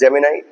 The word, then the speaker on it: Gemini: இதை வந்து ஜெமினின்னு சொல்லுவாங்க நிறைய பேர். ஜெமினை, it should be pronounced as Gemini.